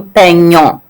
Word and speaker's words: peignons: It kind of changes the pronunciation a little bit. Répétez, nous peignons. Has a ng sound in there.